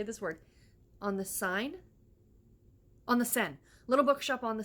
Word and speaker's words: Seine: My audiobook that I'm currently listening to is The Little Bookshop on this, I cannot say this word, on the Seine. Little Bookshop on the Seine.